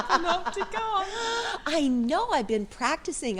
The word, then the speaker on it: Panopticon: Yes, I learned how to pronounce it. Hello, Judith. Hello, Michelle, and well done. You said Panopticon.